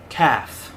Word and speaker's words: calf: cow is called a calf the l is silent c-a-l-f but the l